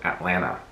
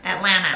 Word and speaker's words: Atlanta: says atlanta like she doesn't say atlanta like atlanta she says atlanta sounds like there's more space in your mouth when you say atlanta yeah and then she's like atlanta and she doesn't even pronounce the t l you might as